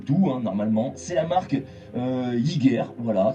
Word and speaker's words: Hygger: C'est la marque Hygger, voilà, ça s'écrit H-I-2-G-E-R, Hygger.